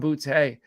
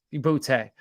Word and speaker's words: Boutte: And that's Kayshon Boutte out of LSU, or Booty, however you want to pronounce it.